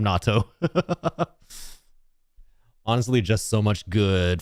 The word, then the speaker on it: natto: NATO versus natto? I think NATO is very differently pronounced from natto.